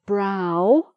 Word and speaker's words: brow: So the ow vowel sound, we have brow, which is the same as your forehead is your brow, and you've got eyebrows.